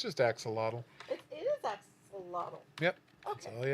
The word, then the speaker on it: axolotl: I feel like it's pronounced different than I want to pronounce it. It's just axolotl. It is axolotl.